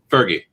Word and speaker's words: Feige: trying to avoid kevin how do you say his last name fergie that's how they've told me every time i've heard anyone say it's fergie kevin fergie okay because i don't see an r in there trying to